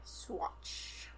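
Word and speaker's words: Saguache: Um, after 10 days of recuperating at the agency, he went to the nearby town of Swatch. We're going to hope I pronounced that right.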